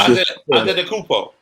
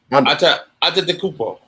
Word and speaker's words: Antetokounmpo: Yeah, I can't pronounce that. Thomas. Antetokounmpo. Yep. It's all in the tongue. Antetokounmpo. So you just found it out. Just phonetic spelling the motherfucker, pretty much. Look how it started. Antetokounmpo.